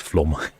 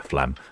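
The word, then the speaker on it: Flåm: Elizabeth Lee Burn says, oh, it's pronounced flom. I prefer flam myself, but yes, I appreciate it's probably not how it's pronounced.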